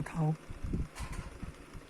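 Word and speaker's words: 夲: 叫吴涛，涛是一个大小的道，下面加一个十字架的十，念作涛吴涛，也是神医啊。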